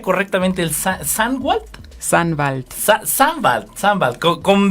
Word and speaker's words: Sannwald: ¿Cómo pronuncia correctamente el Sandwald? Sandwald.